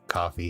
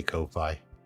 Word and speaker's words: Ko-fi: the low Ko-Fi shop, or coffee, however you pronounce it. I say Ko-Fi, but I know I'm wrong. But I just can't say coffee when it's spelled like that. If they didn't have the hyphen, I'd probably say coffee, to be fair.